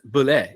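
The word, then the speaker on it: bulette: one at us and he's like it's a bullet and I'm like ah it's pronounced Bulet it's French oh okay yep yeah um because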